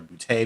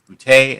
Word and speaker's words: Boutte: instagram at underscore booty b-o-u-t-t-e yes it's boute and that's how you pronounce it if it's not funny you're saying it wrong so get it right